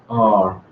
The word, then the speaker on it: are: Also got so weak forms, in are. The coffee roasters are mostly become, the coffee roasters are, the coffee roasters are, it just becomes a schwa.